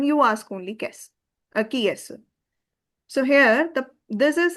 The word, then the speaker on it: qui: Pronunciation is key.